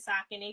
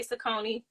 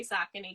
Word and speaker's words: Saucony: I love what New Balance and Saucony. Yes, I pronounce it Saucony because that is the correct way to pronounce it. I know people say Saucony.